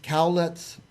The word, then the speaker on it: Cowlitz: favorite is Richard Isle Richard you are a Cowlitz Elder can I say it right yeah that's